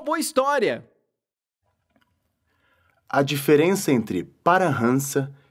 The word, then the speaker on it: Paramahansa: Em outras palavras, as pessoas falantes de língua portuguesa, ou muito provavelmente qualquer não indiano médio, pronuncia assim esta palavra, Paramahansa. Entretanto, a pronúncia correta é Parahansa.